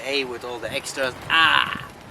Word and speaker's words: å: Basically, the reason why I call this is because you actually have to open your mouth extra to be able to pronounce it well. Ah!